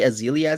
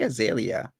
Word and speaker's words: Azealia: azalea or azealia banks you say azealia say azalea yeah i say azealia because i think okay she that's how she pronounces it yeah you're right if i go to wiki it's azealia and not azalea so you're you are